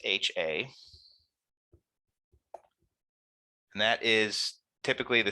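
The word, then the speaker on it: Hₐ: And that's HA. So it's pronounced HA.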